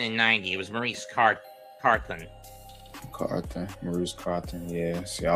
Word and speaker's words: Carthon: Maurice Carthan in 86. Or Carthon, or however you pronounce it. And he was also there again in 90. It was Maurice Carthen.